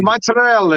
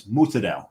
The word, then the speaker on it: mozzarella: no that that's not it was mozzarella it was proone yeah provalone mozzarella right but here it's Madel and it's still Pro